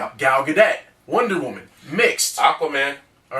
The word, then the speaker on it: Gal Gadot: Gal Gadot. Gal Gadot.